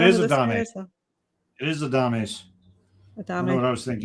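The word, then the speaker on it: Adames: I want to say Adams, so it's probably a Dame by the way it's spelled. That's Adams. Yay! Actually, no, it is a Dame. It is a Dames.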